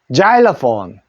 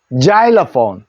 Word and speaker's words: xylophone: 시 해서 실로폰이 하는데 우리 실로폰 하지 않고 이거지 소리냅니다 자 요거는 아 소리 내고 자리 하는 것처럼 자일러이라 합니다 자폰 다시 실로폰은 자일로폰 자일로폰 이라고 합니다 요때 x 전부 다